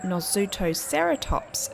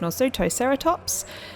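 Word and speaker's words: Nasutoceratops: let everyone know that i did look up how to say it correctly and i do realize that i did not say it correctly whatsoever in the last version i don't believe i said it correctly once so i do know how to say it right now it is nor sutocerotops today i'm going to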